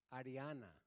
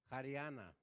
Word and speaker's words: Haryana: second where else in India Cashmere where else Ariana did I say it right haryana okay where else well done I can't say